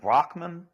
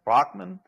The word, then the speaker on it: Brahman: echoic or representative of I usually hear it pronounced with a with a h like Rockman Rockman is that correct you're